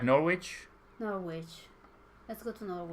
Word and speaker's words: Norwich: sarri we got to northwich uh you don't pronounce the the W in Northwood oh it's Norwich let's go we are